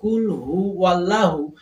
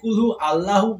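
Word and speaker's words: قُلْ هُوَ اللَّهُ: এই যে সূরা ইখলাস, যেমন অনেকে কুল হু ওয়াল্লাহু, এই কুল হু ওয়াল্লাহুর জায়গায় কুল হু আল্লাহু বলেন। যদি কুল হু আল্লাহু উচ্চারণ করেন সেক্ষেত্রে কিন্তু হবে না, কুল হু ওয়াল্লাহু উচ্চারণ করতে হবে।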